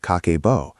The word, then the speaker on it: Kakeibo: Created in 1904 by Hani Motoko, a pioneering Japanese journalist and the first woman to run a newspaper in Japan, Kakebo, pronounced Kakeibo, means household account book.